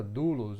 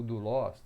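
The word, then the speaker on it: δοῦλος: bíblias como servo é a palavra dulos ou do lost aí vai depender um pouquinho da pronúncia do grego tá mas essa palavra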